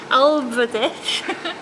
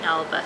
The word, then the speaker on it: Albert: Now this guy, Fairy King, I'm not going to try and pronounce that, Alberdick. Alberdick, yes. Alberdick. Alberdick. Okay. Albert. Fairy King Albert, yes. okay. Not Truesdale, Albert.